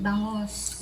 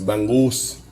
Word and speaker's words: bangus: Help me out with the pronunciation. Bangus. Bangus.